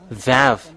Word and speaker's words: vav: This is vav.